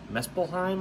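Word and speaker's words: Muspelheim: of the fire demons from um mespelheim i believe is how you pronounce it uh the land of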